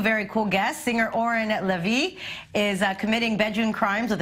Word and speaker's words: Lavie: Singer Oren Lavie is committing bedroom crimes with a troupe of dancers led by choreographer Maya Brenner.